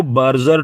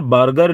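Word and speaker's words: Berger: Mister बर्गर ने या फिर मिस्टर बर्जर आप उसको कहिएगा। ठीक है, बर्गर या फिर बर्जर, क्योंकि स्पेलिंग में थोड़ा सा रहता है कि वहां पर है आपका BURGER। ठीक है, तो उसको बर्गर भी बोल देते हैं कई, और कुछ बर्जर भी कहते हैं, तो यहाँ पर मैं बर्जर कहूंगा उसको।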